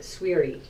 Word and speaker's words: Souiri: grammar school right and the proper pronunciation is swey swey it's my last name